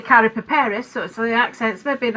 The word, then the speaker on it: Karapiperis: It's Karapiperis. That's excellent. Excellent. Yeah, well, we do say Karapiperis, so the accent's maybe in a slightly different place.